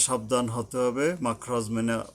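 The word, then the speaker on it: مِنْ: Ming সিজিল, মিন নয় Ming হবে, ইকফার অক্ষর, সিজিল, এই সিন উচ্চারণে সাবধান হতে হবে যেহেতু মাখরাজের অক্ষর।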